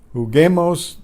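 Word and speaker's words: juguemos: who game assume poco who game owes the silent you is needed because the you preserve the silent you preserves the hard G sound in who God then we have cedar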